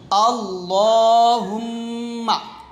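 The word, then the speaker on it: اللَّهُمَّ: দোয়াটা শিখি দোয়াটা হচ্ছে আল্লাহুম্মা এখানে লামটা মোটা হবে আল্লাহ বলবেন আল্লাহুম্মা আল্লাহ আল্লাহুম্মা এখন আমি বাংলা উচ্চারণটা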